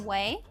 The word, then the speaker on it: Ouai: It's from Ouai.